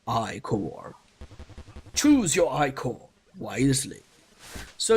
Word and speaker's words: Ichor: fill it with magical eye core that that's pronounced i core choose your icon wisely so you have three